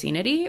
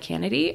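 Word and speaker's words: Lycaenidae: favorites are in the family linity or lenity um depends on how like canedy depends on how you want to pronounce the C in that in that word and these are the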